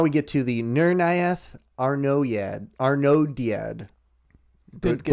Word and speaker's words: Arnoediad: So now we get to the Nirnaeth Arnodiad. Didn't get Butchered that that one last one. Arnoediad. Arnodiad.